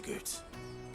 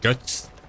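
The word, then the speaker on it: Goetz: Let's get this back to Goots. And then it's on to the Dominion. Dobrze, to Goots. Ogólnie to się wymawia Guts.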